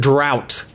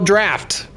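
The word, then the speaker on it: draught: Uh that is the British spelling of draft and I have been pronouncing it drought because I was like that's not how you spell draft. That is how you spell draft.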